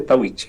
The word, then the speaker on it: Tahuichi: En realidad no se dice Tahuichi, se dice Tahuichi. Tahuichi con como T. Todo está con T. Tahuichi. Como el talla. Como todo está castellanizado, se dice Tahuichi, ¿no? Suena así.